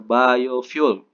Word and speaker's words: biofuel: itu contohnya yang keenam energi biofuel file ya Tapi bacanya biofuel eh energi biofuel merupakan